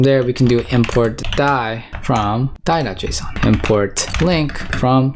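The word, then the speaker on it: DAI: So this is the die ABI, it rhymes, die, right? Cool, now import, export const link ABI, link.ABI.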